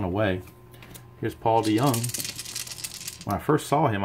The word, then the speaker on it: DeJong: Here's Paul DeJong. When I first saw him, I thought his name was pronounced DeJong, but everybody calls him DeYoung from what I understand, so that's what we'll go with.